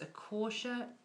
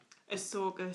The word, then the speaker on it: Ahsoka: I want to say it's Akosha. Ahsoka Tano. That's it.